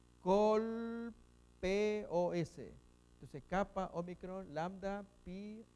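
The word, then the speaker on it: κόλπος: Colpos. Colpos. Entonces, kappa, omicron, lambda, pi, omicron, sigma. Colpos.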